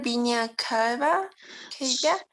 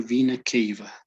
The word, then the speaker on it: vena cava: here about pronunciation uh i2 is the correct pronunciation okay it would be atrium right hatred could you read this please um superior vina cabba he'll be superior vena cava okay okay okay being a cave this one